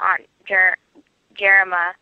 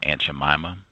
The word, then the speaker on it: Aunt Jemima: I can be mistaken, but I think the correct pronunciation is Aunt Jemima.